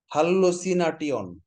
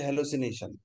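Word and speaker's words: hallucination: আক্ষরিক উচ্চারণের সময় এ থাকলে আমরা আ উচ্চারণ করব, আর ই থাকলে এ উচ্চারণ করব। আচ্ছা এবার আমরা দেখি হাল্লোসিনাটিয়ন, এবার চোখ বন্ধ করে মনে করেন তো বানানটা, হাল্লোসিনাটিয়ন মানে কি?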